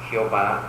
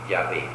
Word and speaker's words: Yahvé: Aunque después los modernos eruditos bíblicos dicen que no es correcto pronunciar Jehová, el tetragrama hebreo que expresa el nombre de Dios, sino Yahvé.